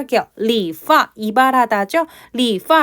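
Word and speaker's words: 理发: 나타내는 건 파가 되겠어요 요때 성조는 성이에요 왜냐면 해당 글자 같은 경우는 다음 쪼로 파도 발음이 되고 파 4성도 되거든요 자 이합 동사이 때문에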